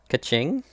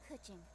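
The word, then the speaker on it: Keqing: Kaching? Yeah, As it happens, that's her name. I am one of the Liwei Qixing. I'm Kuching, the Yuhan Kuching.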